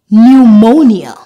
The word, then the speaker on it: pneumonia: I just mentioned but the P at the beginning of the words are silent are pseudonym pneumonia pneumatic pneumology rule number